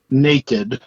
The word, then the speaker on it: naked: have no clothes on naked see i say naked like a neck like a person's neck i say naked naked